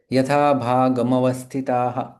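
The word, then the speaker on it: यथाभागमवस्थिताः: तो यथा भागम अवस्थिता जब म पूर्ण उच्चारण हो जाता है अ और म एकत्रित आ जाएंगे यथा भागम अवस्थिता इस प्रकार से उसका उच्चारण करेंगे।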